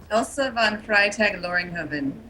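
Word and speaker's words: Elsa von Freytag-Loringhoven: i'll mess her name up how do you pronounce her name elsa von freitag loringhoven okay and and it you find yourself as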